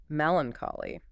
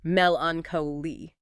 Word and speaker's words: melancholy: On the flip side, we have melancholy, pronounced melancholi.